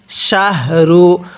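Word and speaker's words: شَهْرُ: অনেকেই আমরা এই গোল হাগুলো উচ্চারণ করার সময় রু অর্থাৎ এই হাটা উচ্চারণ করার সময় মুখ দিয়ে বাতাস বের করি। যদি এই হাটা উচ্চারণ করার সময় মুখ দিয়ে বাতাস বের করি তাহলে পড়াটা সহি শুদ্ধ হবে না। কিভাবে পড়তে হবে? শাহরু হাটা উচ্চারণ করার সময় মুখে একটু আওয়াজ করে পড়তে হবে।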